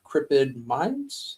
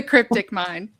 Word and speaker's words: Cryptic Mind: It's called Crippid Minds if I'm not mistaken. Am I saying it wrong? The Cryptic Mind.